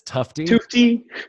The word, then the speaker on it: Tufte: or read out the Tufte Tufte book I think I've been pronouncing it wrong this whole time so am i is it tough T or top P I believe it is tough to t yeah I say in